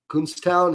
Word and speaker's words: Kutztown: It's a long U. It's Kutztown. Is that how you say it?